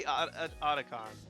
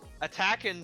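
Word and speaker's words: Atakhan: It's got to be Oticon. Yeah, cuz attacking just sounds stupid from all angles.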